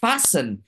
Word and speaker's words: fashion: luôn cái từ này Mình đọc là fashion f sin nó nhấn vào âm tiết thứ nhất cho nên là mình